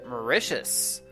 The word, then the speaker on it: Mauritius: a million plants species Mauritius rhymes with delicious tell me about Martha